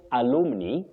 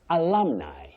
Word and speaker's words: alumni: Don't say alumini, don't say alumni. You say alumni. Uh-huh. Alumni.